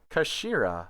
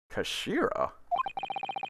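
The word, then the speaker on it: 頭: end of the hilt it's written as head in japanese but it's pronounced as kashira i believe kashira so mr osoghi's words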